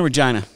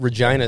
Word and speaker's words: Regina: time uh regina saskatchewan it's regina regina regina city they're right with fun i've checked into many flights and um i've had them tell me that i'm saying it wrong i was like no